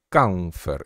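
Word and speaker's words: chamfer: a ver otro modificador que llama canfer y se escribe champfer y cuando vos lees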